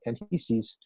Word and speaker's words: Anchises: She also had a great love for Adonis and Anchises, and with I think its actually name is pronounced Anchises, and Anchises and Aphrodite actually brought to the world Aeneas, who was one of the great Greek heroes.